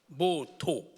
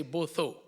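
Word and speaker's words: Botho: development Unity self-reliance and both too as we pronounce it if you struggle you can say both though but it simply means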